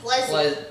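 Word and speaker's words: Plezi: I mean, you can see from the way it's spelled, P-L-E-Z-I. That would be Pleasy.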